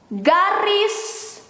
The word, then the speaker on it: garis: Slash in Indonesian, garis miring. The G in Indonesian is like when you pronounce go or ga is ga.